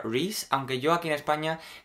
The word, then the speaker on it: Rees: mío es r e e s y se pronuncia reis Aunque yo aquí en España eh Como estoy